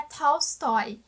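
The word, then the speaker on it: Толстой: Inclusive eu aprendi no meu curso de literatura russa que a pronúncia mais próxima seria Tolstói.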